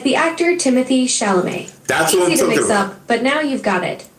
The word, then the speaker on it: Chalamet: It's a name, like the actor Timothy Chalamet.